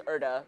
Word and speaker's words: Euda: again, my name is Euda. It's spelled E-U-D-A. There's no R.